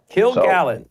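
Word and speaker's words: Kilgallen: Uh Kilgallon, by the way, I mispronounced it at times. It's just killen. Kill gallon. Just like kill a gallon of milk.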